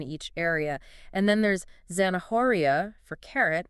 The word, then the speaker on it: zanahoria: And then there's zanahoria for carrot, where the H is silent.